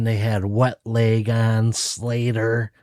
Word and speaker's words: Slayyyter: had Wet Leg on, Slater, which is spelled Slayyyter, and that throws me off.